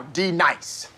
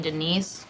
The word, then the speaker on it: D-Nice: Now, D nice. Do you mean Denise? Son of a bitch! You say your name right now. Denise? Say it right. Denise. Correctly. Denise. Right. Denise. Right. D-nice. That's better. Thank you.